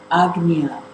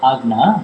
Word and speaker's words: Agnya: Alles, was das kleingeschriebene Selbst Martin weiter am Leben erhält, das ist eben Agnya. Agnya, not say Agna, but Agnya. With Rudiger, we pronounce it like this, like ugly, Agnya, Nya.